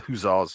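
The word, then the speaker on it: hussars: and then the then the huzzahs or the guzzars depending on how you want to pronounce it who are cavalry formed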